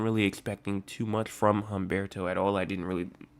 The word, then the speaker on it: Humberto: Um Hberto, I just real I um checked actually the pronunciations today. I see multiple people calling it Humberto.